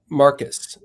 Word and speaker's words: Marquis: you put out that, is it Don Marquis or Marquis? I've never known the... I think it's Marcus. Marcus, okay, so I pronounced it doubly wrong then.